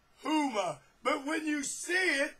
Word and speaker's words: Huma: some way that his wife her name is huma that spelled h-u-m-m-a and it's pronounced huma but when you see it it it looks